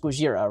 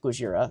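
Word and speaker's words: ゴジラ: So, to illustrate this better, it's pronounced Gojira, right, when they're in these when they they say his name, and it sounds like Gojira.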